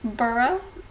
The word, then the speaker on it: borough: just a little note the word borough can you repeat it with me burro burro el burro burro and Staten Island Staten